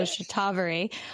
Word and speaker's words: Shatavari: I was saying Shatavari, so I'm glad I heard you say the proper pronunciation. So Shatavari.